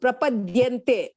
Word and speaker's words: prapadyante: Most of the South Indians, they will pronounce it as prapadyante. Dhanushya dha. It is not dhanushya dha. It should be the. The prapadyante. No, prapadyante. Yeah, the and ya. See, this differentiation you should be able to make out. Dya and dhya. Both are different.